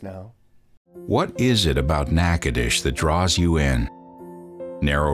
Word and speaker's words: Natchitoches: are we anyways well we're in nakadish that's how they say it here it's a Native American word for a type of chestnut tree we're kind of